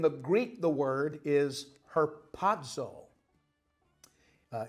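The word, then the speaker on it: harpazo: chapter 4 in the Greek the word is herzo uh h a r p a z o pronounced herzo from the Greek but whether you're reading Latin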